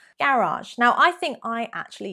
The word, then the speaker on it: garage: Is it garage, garage, or garage? Idge. It's the ending there that makes the big difference. Garage, garage. Technically, the French correct pronunciation, garage.